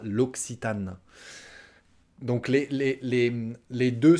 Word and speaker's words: L'Occitane: qui tend en anglais elle est à 2 prononciation l'aquitaine l'occitane l'occitane ok alors on la version française ce sera l'occitane donc les les les